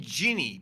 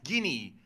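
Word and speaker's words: Ginny: because wait a second I always pronounce the name jinny but that's Guinea like guinea pig yeah I mess it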